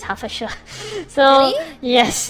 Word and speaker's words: Hertfordshire: Previously, I pronounced Hertfordshire, but actually it's Hertfordshire.